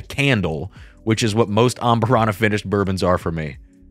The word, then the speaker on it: Amburana: I got to pronounce it, properly here. Amburana.